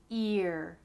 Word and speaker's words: ear: Next, year and ear. The difference here is just the Y sound at the beginning of year.